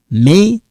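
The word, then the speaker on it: mes: Don't worry about this S. You don't have to pronounce them. Right now, you don't. But when we link them, yes, you're going to pronounce. Okay, we call that liaison.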